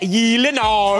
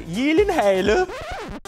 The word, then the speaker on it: Gyllenhaal: It is a Swedish name. So shouldn't it be like Gyllenhaal?